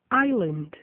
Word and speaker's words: island: Nos casos a seguir, o S e o L aparecem na palavra escrita, mas o S não é pronunciado. Ouçam, repitam e gravem. aisle, island, A classic false friend.